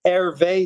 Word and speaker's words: Hervé: would be on on Twitter uh and that it's spelled Ave differently it's my phonetic name my name on